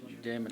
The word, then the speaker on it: Damon: Damon like demon.